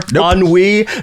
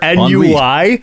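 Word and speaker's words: ennui: So, I hope that this show has cured your NWI, not your NUI, which is it's not an acronym.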